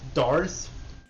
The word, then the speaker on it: Darce: The way you actually pronounce his name is Darce, but I've been saying